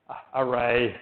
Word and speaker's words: rray: However, Davis, who's on my team, made this array package, like array, pronounced like array, R-R-A-Y, which kind of tries